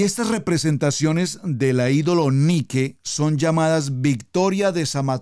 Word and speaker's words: Nike: ser de victoria porque es tan importante porque ni que ni que escriba lo en sus notas ni que ni que como lo estoy pronunciando a lo largo de la historia el